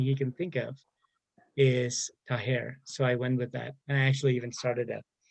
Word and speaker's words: Taher: I think it would have a guttural ha to it. So Taher. Higher?